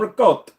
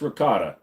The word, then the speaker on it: ricotta: make me a Gaba with some rot no it's ricotta don't pretend that you're